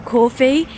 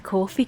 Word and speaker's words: Corfe: Quite a few pubs, so I'm trying really hard not to call Corfe Castle Coffee. My mom's had to tell me it quite a few times that that's not the correct way of pronunciating, but you know me,